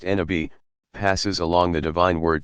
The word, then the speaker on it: Nabi: Every prophet, Nabi, pronounced Nabi, passes along the divine word to a particular people and inevitably meets with tremendous resistance, at least initially.